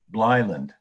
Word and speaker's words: Blue Island: and an opera house the people there pronounced the name as if it were one word bleiland over the years the